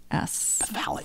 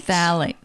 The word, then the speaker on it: phthalates: Phthalates, and it's started spelled with a P. Oh. Phthalates. Phthalates. Phthalates. It's pronounced. Okay.